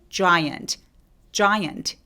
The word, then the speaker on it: giant: 자, 입술 쭉 내밀어서 큰 거 발음해 볼게요. giant. 자 아니고 입술 쭉 giant 이렇게요.